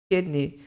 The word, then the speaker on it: kidney: fala le Lever Lever kidney kidney Então não é um k como se fosse um I do português é mais mais parecido com o e Lever kidney Show in